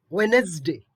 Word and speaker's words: Wednesday: yacht yacht yacht okay now for pronouncing this word we pronounce it badly now we have to pronounce it as wednesday wednesday or wednesday okay let's understand the pronunciation